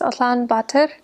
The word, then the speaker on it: Ulaanbaatar: I was only in the capital city, which is in Mongolian pronounced Ulaanbaatar, and I was there because I had to teach English there at a university, so I taught only in the city.